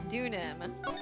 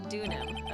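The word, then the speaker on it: Deauxnim: it okay Alise duk I feel like okay the x is silent dunam dunam okay um I'm sorry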